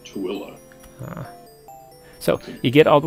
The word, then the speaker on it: Tooele: There's a place in Utah that looks like you would pronounce it Thule, Toole, but it's actually pronounced Tooele.